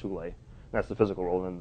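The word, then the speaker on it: hyle: And they call the Platonic world the pleroma, which is this non-physical Platonic realm, and then the hule, it's spelled Heil, but it's pronounced hule.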